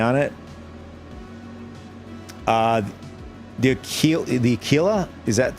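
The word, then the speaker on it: Aquila: Uh the the achila, is that how you say it?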